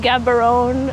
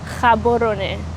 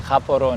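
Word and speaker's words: Gaborone: called kabon so uh most people call it Gabon uh but it's pronounced kabon koron yes okay I would also pronounce it wrong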